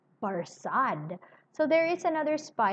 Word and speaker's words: Barsad: Barsad. So there is another spy, and his name is Barsad. You've met Barsad before. Borsod, said Defarge, making it French by pronunciation, but he had been